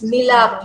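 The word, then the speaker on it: Milaap: So I don't know how you pronounce it, Milap or Mylap. They actually help to sponsor part of the oxygen tanks also. Oh And wow, these, And Farah. That's nice. It's Milab. Yes, I think we can work Milap, with them.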